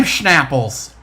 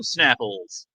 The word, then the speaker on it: Snapple: Oh, I don't say it with an H. How do you say it then? I say, how do you like them Snapples?